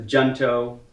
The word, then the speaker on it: Junto: Mutual Aid Society that the junto we would pronounce it Hunter but it is a